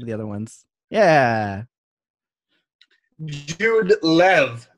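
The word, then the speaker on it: Jud Lew: Yeah, it was the Jude Lou, not Jude Law book, right? And some of the other ones. Yeah. Jude Lev, actually, as I'm told. It's pronounced.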